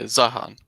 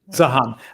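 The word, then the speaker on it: Zeihan: Do you know how to say it? Yeah, Zahan. Zahan. Okay, I can hear the Peter Zahan in this stream.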